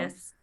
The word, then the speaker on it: Yunus: And you're doing this with another filmmaker, Rami Youssef, if I'm not wrong. Rami Yunus. Yunus, sorry, yes.